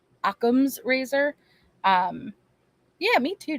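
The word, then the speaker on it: Occam's: versus aam's Razer sorry I realize that I pronounce it in a way people think I'm mispronouncing it versus I just say it fast so it comes out like amman's but it's aams akams Razer um yeah me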